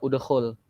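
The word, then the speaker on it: اُدْخُلْ: Jika di tengahnya itu domah, maka hamzah wasalnya dibacanya udkhul.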